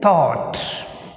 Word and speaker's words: thought: Next word is thought. Thought which is silent, gh is silent.